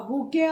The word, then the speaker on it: bouquet: A bouquet of flowers. A bouquet of flowers. A bouquet of flowers. B-O-U-Q-U-E-T is pronounced as bouquet.